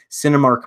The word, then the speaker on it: Sinemia: Cinemark Movie Club, which offers discounts on concessions, but it's 1 movie per month at $9.99. And Cinema, it's spelled SINEMIA.